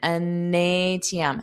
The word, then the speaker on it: an ATM: So, notice that connection. NATM.